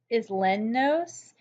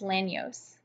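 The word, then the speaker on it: Isleños: to Louisiana is a group called the Islamic spelled like is Leno's but it's pronounced as land knows he is land use for Spanish speaking so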